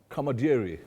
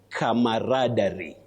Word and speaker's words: camaraderie: Kamadiri. Kamadier. A very common pronunciation. You're very very right. That is what many people say. Yes. But please you say camaraderie.